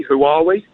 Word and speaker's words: Huawei: think it's h yes I think it's Huawei but who are we is is is just as good who are we who are we who are we who are we all right Huawei Huawei we'll have Huawei